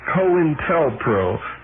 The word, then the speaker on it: COINTELPRO: The name, the term co-intelpro, pronounced co-intelpro, is a contraction of counterintelligence program, which was and likely still is official denials.